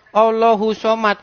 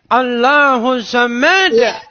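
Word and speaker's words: اللَّهُ الصَّمَدُ: Saya bacanya begini. Qul huwallahu ahad. Allahu somad. Dimarah saya. Dimarah. Bacanya bukan begitu. Coba bang bacanya. Bacanya harus begini. Qul qul huwallahu ahad. Allahus somad. Lam yalid walam yulad walam yakulahu kufuwan ahad. Harus bacanya begitu dalam hati saya.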